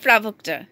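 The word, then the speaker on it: provocateur: ইউ আর এজ এ প্রাভোক্তা এখানে টি ইউ আর শেষে আর তো আমরা উচ্চারণ করি না জানিনা জানি এটা সবসময়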